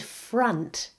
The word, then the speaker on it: front: And font and front. Now I mentioned before that some O letters in English make A. The word front is another example of this. Front, mother, brother.